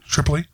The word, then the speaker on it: Tripoli: do you say your last name Triple E Tripoli nice well we've been looking to have uh